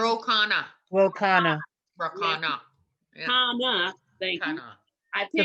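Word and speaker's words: Khanna: Is that how he pronounced it? Rokana. Ro Rakana. Yeah. Kana.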